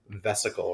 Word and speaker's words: vesicle: that's that word there vesicle right um and a vesicle i always think about it like it sounds like the word vehicle right and vehicles help